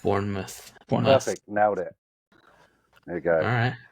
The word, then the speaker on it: Bournemouth: your pronunciation of Bournemouth so it's not pronounced like mouth it's like Bournemouth Bournemouth bourou perfect now it